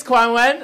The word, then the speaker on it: Kuan-Wen: My name is Kuan-Wen. Unlike Freddie, most of you guys cannot handle the pronunciation, let's be honest.